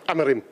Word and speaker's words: Amorim: man united right now I love the way you say his name the proper Portuguese way amarim say it again am